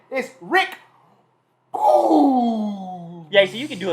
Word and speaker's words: Boogs: His name is Rick Boogs.